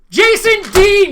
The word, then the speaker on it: Jason Dean: Their first name rhymes with Mason. And their last name kind of rhymes with spleen. Jason Dean, you win!